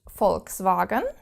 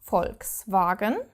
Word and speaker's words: Volkswagen: know the car brand Volkswagen Volkswagen you probably will have pronounced it wrong all your life but you have to pronounce this V like an F and actually quite curiously